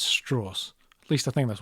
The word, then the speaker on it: Strauss: that of Admiral Strauss he makes it very clear how you're supposed to pronounce his name it's not Strauss it's straws at least I think